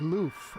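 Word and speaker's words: l'œuf: So V says they use love because it's thought to be a corruption of the French word egg. Lo loof pronounced something like lof since an egg is shaped like a zero.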